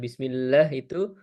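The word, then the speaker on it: بسم الله: Ketika bismillah ee bismillah itu bismillahi hnya itu jangan jangan ee seperti huruf ha ya, tapi bismillahi di situ menggunakan H tebal di sana. Nah, mungkin itu catatannya tadi ee saya mendengar sedikit ketika bismillahi agak seperti hak kecil di sana. Lebih kita pertegas lagi bismillahi dengan hak besar ya, Pak.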